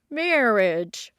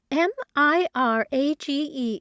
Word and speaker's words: mirage: to give it up he added marriage and marriage m-i-r-a-g-e is pronounced Mirage said valency shortly picking up her